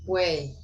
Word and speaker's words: weigh: Weigh, pronounced the same as weigh. Way.